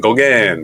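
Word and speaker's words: Gauguin: surrender in September Ma biography Paul go Goan Goan that's how you pronounce it French painter born June 7th June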